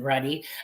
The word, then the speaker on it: Ruddy: begin um we have Jasmine Ruddy um rhymes with Buddy um assistant director of